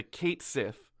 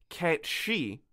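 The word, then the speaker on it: Cait Sìth: portion specifically on the kate sith and i was very excited and i learned that the proper pronunciation is the cat she and i would like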